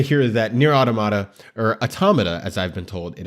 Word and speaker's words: Automata: And you know, it's kind of funny to hear that NieR Automata, or Automata, as I've been told it is pronounced, version 1.1a, episode 9 has been delayed.